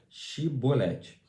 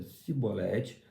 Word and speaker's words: Shibolete: Se respondesse que não, os homens de Gileade lhe diziam: então diga, Shibolete. Se ele dizia Sibolete, não podendo pronunciar corretamente a palavra, eles o agarravam e matavam nos vales do Jordão.